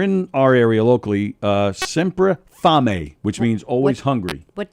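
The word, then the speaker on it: Sempre Fame: was delicious uh semp sempra fami s-e-m-p-r-e fame f a m e but it's pronounced family it means almost hungry uh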